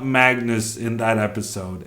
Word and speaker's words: Magnus: Magnus, Magnus, Magnus, Magnus, Magnus, Magnus, Magnus, Magnus, Magnus.